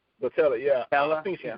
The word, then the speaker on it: Boutella: Sophia Boutella. Boutella, yeah.